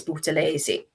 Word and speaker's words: Buthelezi: I always get his name wrong. Buthelezi. I'm sure it's Buthelezi.